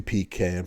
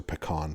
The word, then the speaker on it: pecan: There were 2 pecan pies or pecan pies, depending on how you want to pronounce it.